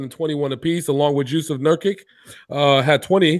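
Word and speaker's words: Jusuf Nurkić: Did you just say Juice of Nurkic? Jusuf Nurkic. That was his name. Jusuf Nurkic. Sound like you said Juice of Nurkic. What the? That's exactly how you say it.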